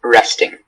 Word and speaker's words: wresting: Are there any alternate pronunciations? Just resting. Okay, resting.